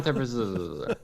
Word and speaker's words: Debreczeni: Yeah, so it's like Adam Debreczeni.